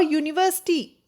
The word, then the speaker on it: university: example we have words and uncle but our university both the words begin with you but the